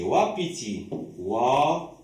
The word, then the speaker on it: wapiti: C'est la lettre W, mais on la prononce OU.